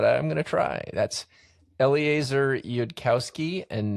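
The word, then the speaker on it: Eliezer Yudkowsky: This book was written by two people whose names I will probably mispronounce, but I'm going to try. That's Eleazar Yudkowski and Nate Sores.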